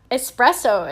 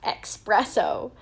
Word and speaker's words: espresso: i just learned that espresso is not pronounced expresso and it doesn't have an x in it it's just an s whoops not too sure